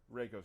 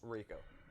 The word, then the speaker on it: Reiko: Reiko's coming. Reiko.